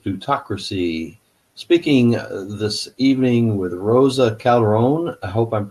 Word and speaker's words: Roza Calderon: Hi, I'm Victor Tiffany with Citizens Against Plutocracy, speaking this evening with Roza Calderon. I hope I'm pronouncing that right.